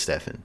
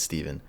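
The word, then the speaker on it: Stephan: It's spelled with a PH and an A, so you'd think it's Stefan, but it's not. It's Steven. Joining me, of course, the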